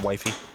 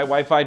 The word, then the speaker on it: Wi-Fi: George, it's pronounced wifey. Okay. Also, Pinsomniac, that was not stated in the form of a question. I'm sorry. Yeah, it's Wi-Fi.